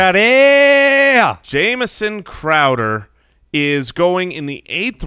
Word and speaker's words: Crowder: a cheap shot alright so this one is pronounced Crowder yeah Jameson Crowder is going in the 8th round and I